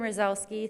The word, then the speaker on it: Rosowski: And begin with Rosowski. I'm sorry. That's okay. It's a Polish name. They get butchered. Is this on? Okay. Go. Do we need it? I think. Okay. So hi, my name's Rosowski.